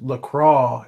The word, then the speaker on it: Lacroix: Um, Somebody says Lacroix is how you pronounce her name.